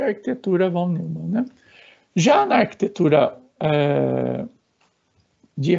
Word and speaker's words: von Neumann: Vocês vão encontrar muitas pessoas, né, falando von Neumann. Von Neumann, né, é a forma correta de pronunciar o nome holandês deste pesquisador.